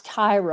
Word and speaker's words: Tyria: Well, It, they pronounce it as Tyra all the time, but it's spelled Tyria, and that's not unusual with a lot of those people, but that's school like, can you kids.